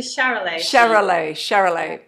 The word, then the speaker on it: Charolais: you've got Hebridean and I'm saying this wrong, Charolais, or just correct me, how do you say it? Yeah, they're actually Charolais.